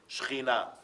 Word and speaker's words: Shekhinah: Shekhinah. That's exactly how you say it in Hebrew.